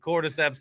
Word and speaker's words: cordyceps: it right even have to Google how to spell it I knew everything I was like cordyceps cap cordyceps I got it don't worry about